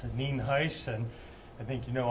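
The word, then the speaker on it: Nhuis: N-H-U-I-S, and it's pronounced Neen Heiss, and I think you know I'm the sheriff of Fernando County.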